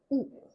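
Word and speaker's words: उ: It sounds like this short oo. Not a oo, not a long ooh sound, but a short one.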